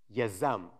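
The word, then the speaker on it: יזם: This is the Hebrew word for entrepreneur. It's pronounced yazam. It's a very short word.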